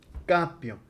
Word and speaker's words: capio: El acento va aquí. Para el acento es para la pronunciación, no se escribe regularmente en latín. Esta va a ser la excepción. Sí. Capio, capis, capit capimus, capitis, capt, porque el acento está allí.